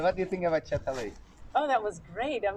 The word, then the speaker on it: Çatalhöyük: You remember the name of it is a little bit pronunciation is like Turkish, but Çatalhöyük, we say. Çatalhöyük.